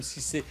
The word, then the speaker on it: Sidse: D'abord, elle s'est présentée comme Cissé. J'ai compris que le D ne se prononçait pas. Comme Djibril, en fait.